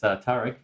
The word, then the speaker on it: Tariq: Most people confuse that, but it's Tariq, and I started out in Minnesota, and I'm back in Minnesota, so I'm kind of glad to be here.